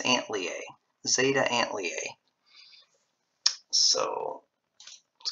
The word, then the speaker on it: Antlia: that's zeta and uh antoli i think that's how it's pronounced it's either antholy or aunt aunt lee i think it's ant leah zeta and lea so